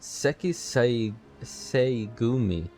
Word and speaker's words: Sekisei Gumi: Okay, he pronounced it Sekisei Gumi. So it's like an added flavor to like the second syllable, I think is what you call it.